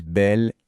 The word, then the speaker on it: bel: Et bien juste pour que ce soit plus joli et plus fluide à prononcer, on utilise belle et nouvelle. On dit un bel homme ou un nouvel ami.